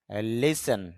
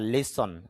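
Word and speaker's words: listen: লিসেন বা লিসন, যদি আমরা লিসেন বলি তবে শুদ্ধ উচ্চারণটা হবে লিসন, মানে অর্থ হলো শোনা, কোনো কিছু শ্রবণ করা।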